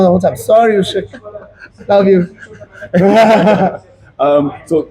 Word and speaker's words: Usyk: Sorry, Usyk.